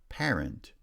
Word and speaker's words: parent: Parent has stress on the first syllable, but parental has stress on the second syllable.